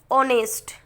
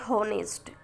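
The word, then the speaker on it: honest: फिर ऑनेस्ट, नॉट होनेस्ट.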